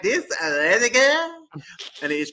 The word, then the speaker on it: Rediger: I have to say it like this, Rediger.